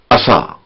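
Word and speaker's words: عصى: سین صاد کا فرق. عسى عصا سین سے، اس کے معنی امید ہے یا شاید. عصا عصا سات سے، یعنی نافرمانی کی.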